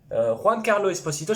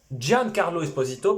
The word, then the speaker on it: Giancarlo Esposito: Alors, Juan Carlo Esposito, je suis sûr que ça se prononce pas comme ça. Giancarlo Esposito, pardon.